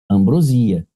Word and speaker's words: ambrosia: Aham, Para você dar o gabarito letra E, a pronúncia dessa criancinha aqui, ó, a tônica tá aqui, ó, ambrosia.